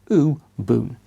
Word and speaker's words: Ubuntu: in case you're wondering who boomed to is a South African word that captures the spirit of humanity and sharing with the pronunciation being ooh boom - as you can